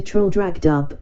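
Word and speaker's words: Traldragdubh: and my retinue to troll dragged up or trial drug trip for it is pronounced both ways as near as I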